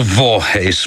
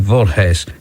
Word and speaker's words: Voorhees: It's spelled V O R H WS and I think it's something like Vorhees.